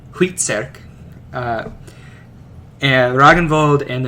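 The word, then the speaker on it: Hvitserk: beer and ironside and based off of the danish pronunciation at the time most likely most likely huitserk uh and dragon ball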